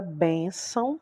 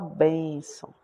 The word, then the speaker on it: bênção: Mas quando a gente vai pronunciar a palavra bênção, nós fazemos um pouco mais de força para falar bênção.